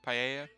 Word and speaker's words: paella: quick they're simple ones we have National Spanish paella day yeah that's how it's pronounced paella yeah which if you haven't had it before